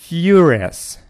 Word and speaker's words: furious: Какой слог под ударением? Furious. Furious. Furious. Furious. Furious – первый слог. Ударение на первый слог.